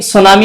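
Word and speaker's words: tsunami: आप देख सकते हैं सुनामी में टी साइ है जो कि एक जापानीज वर्ड है साइकोलॉजी में पी साइलेंट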